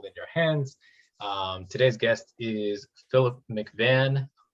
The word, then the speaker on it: Philip McVann: Today's guest is Philip McVann. I think I'm pronouncing that right. Is that accurate? Perfect.